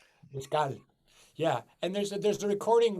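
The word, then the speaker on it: Escales: Galleys? Am I saying that wrong? There's a recording. L'escale, thank you. And yeah, There's a pronounce it correctly. L'escale.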